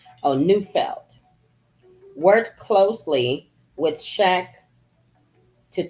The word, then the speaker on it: Neufeld: I don't want to mispronounce his name. Oh, Neufeld.